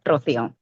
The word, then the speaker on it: Rocio: Rocio? Rocio? Correct, Rocio. Rocio. I just Well, rolled my R, but yeah, yeah, of course.